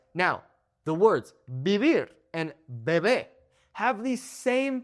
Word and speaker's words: vivir: But 99% of the time, B and V make the same sound. So this word is not vivir. That is incorrect. It is vivir. That soft B sound, okay?